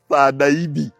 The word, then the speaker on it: Sajabi: Badruddin Afan Sajabi, twamuyitanga ffe Sajabi naye nga ye musoga ng'agamba Sadaibi nga bw'omuyita Sajabi ng'akaayana Sadaibi, kubanga yenyumiririza mu kuba nti musajja musoga. Abaganda naye bwe yabanga awandiika Sajabi, naye ye in pronunciation ng'agamba Sadaibi.